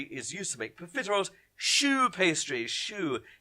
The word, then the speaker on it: choux: Choux pastry. Choux. If you spell it S-H-O-E or S-H-O-O, absolutely fine.